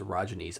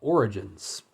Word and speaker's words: orogene: orogenes uh at least I was told it's pronounced orines I had one reading it I had been calling it Origins like origin but apparently it's ayy uh it's